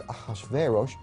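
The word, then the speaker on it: Ahasuerus: native language is shayarsha that was hard for the jews to pronounce so they said ahashverosh we know him as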